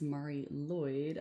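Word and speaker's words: Mari Lwyd: this is said as Marie Lloyd Mar Lloyd therefore in English it is usually said as Marie Lloyd okay I will put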